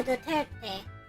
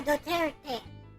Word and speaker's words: Duterte: President Rodrigo Duterte. Not Duterte. Former President Rodrigo Duterte. Not the T. It's not T. It's T. T. You know, like like in Japanese.